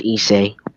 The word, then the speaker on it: Issei: Are If you you sure don't know that how to say, if you don't know how to pronounce it, it's pronounced Issei.